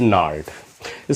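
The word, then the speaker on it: gnarled: करते हैं एक एडजेक्टिव नार्ड स्पेलिंग हो जाती है जी साइलेंट होता है नार्ड एडजेक्टिव की तरह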